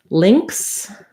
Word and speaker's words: lynx: Lynx is the same as links, like links, links to a website or a video. And ling, it's like an ling sound, lax I, and then a ks, links.